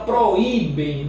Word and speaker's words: proíbem: Agora proíbem na letra E. Proíbem. O I sozinho, formando hiato.